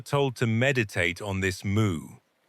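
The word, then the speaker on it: 無: He said, in Chinese, mu or wu in Mandarin pronunciation is a negation, meaning no or nothing, or without or does not have.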